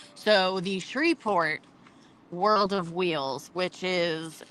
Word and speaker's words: Shreveport: No, it is 100% Shreveport. Shreveport. Shreve.